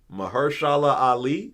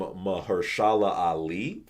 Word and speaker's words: Mahershala Ali: Mahershala Ali, I guess that's how you say his name.